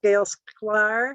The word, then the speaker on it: Gail Sklar: And this webinar on gardening with native plants is provided to us by the Washington Native Plant Society with Gail Sklar. Is that pronounced right, Gail?